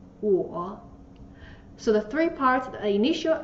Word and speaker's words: 我: means I in Chinese the pronunciation is whoa so the three parts